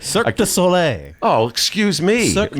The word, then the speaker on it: Cirque du Soleil: It's under the, Kevin Beverly, the pride and joy of Chicago, will be here talking about Circus du Soleil. I may have butchered that. Cirque Du Soleil.